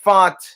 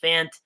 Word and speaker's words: Fant: And yes, it's pronounced Font. Didn't know that. I was actually wondering how you pronounce it. Some people said Fant.